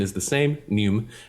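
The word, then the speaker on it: neume: have and it's spelled n-e-u-m-e um but the pronunciation is the same nume right so our play on that is new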